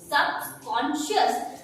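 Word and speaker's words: subconscious: अब CIOUS अगर किसी भी स्पेलिंग के लास्ट में आता है तो आप उसे पढ़ते हो शियस के साउंड से। तो अब आपके लिए स्पेलिंग इजी हुई, सबकॉन्शियस।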